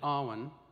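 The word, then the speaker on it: awen: you are so moved the chanted ahwan will be drawn out to three syllables and it will sound like this does everyone got that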